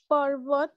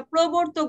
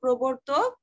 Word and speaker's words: প্রবর্তক: আধুনিক বাংলা কবিতার ধারা নতুন যুগের পর্বত রবীন্দ্রনাথ ঠাকুর ছিলেন। আচ্ছা প্রবর্তক বলবো, হ্যাঁ পর্বত না তো, এটা উচ্চারণটা হবে, প্রবর্তক ছিলেন রবীন্দ্রনাথ ঠাকুর।